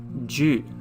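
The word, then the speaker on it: 十: It's just a cross. It's quite easy. There we go. And it's pronounced as ju, along, ju.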